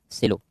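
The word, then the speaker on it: Coelho: IR सेलो, या इसको कोहिल्यो भी पढ़ते हैं, बनाम तमिलनाडु राज्य। IR सेलो या कोहिल्यो भी कहीं कहीं प्रोनाउंसिएशन करते हैं।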